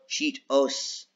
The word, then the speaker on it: Cheetohs: Do you remember it being Cheetos or Cheetos, even though the H is silent?